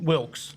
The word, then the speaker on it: Wilkes: I can't pronounce it today. I don't know why. What's your last name? Wilks.